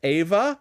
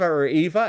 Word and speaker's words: Eva: I think her name was Ava, if I'm not mistaken. Yes, so, or Eva. Eva, and somebody corrected us when we said it wrong the first time.